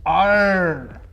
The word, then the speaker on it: Arr: Well, the proper pronunciation is R.